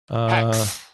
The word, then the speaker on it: HAEX: Hex. It's being pronounced Hex.